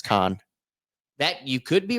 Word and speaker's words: Cannes: Yeah, but I think the f French pronunciation is con that you could be right in that.